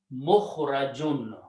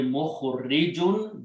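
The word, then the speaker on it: مخرجون: Okay, so in this case, we have Mukhrajun. Okay, Mukhrajun means someone who will be brought out. If we leave the kasra here, it will be Mukhrijun.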